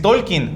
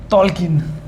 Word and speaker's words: Tolkien: ¿Porque es Tolkien o cómo se pronuncia? Tolkien.